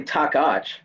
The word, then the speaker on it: Tacaks: dr mike it's actually takach takata that's really how it's supposed to be said yeah yeah what do